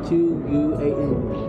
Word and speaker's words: Quan: loves you what's your first name uh Quan spell that q u a n Quan okay that sounds Chinese to me so